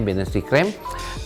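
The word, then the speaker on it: Bienenstichcreme: Binnenstichcreme adalah tulisannya B-I-N-T-I-C-H ya, Binnenstichcreme, bacanya Binnenstichcreme, yaitu adalah campuran dari fla dengan buttercream dikocok jadi satu.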